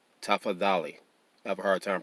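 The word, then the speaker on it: tafadhali: l i and um the d h is pronounced the same way the t h is pronounced in english the that is please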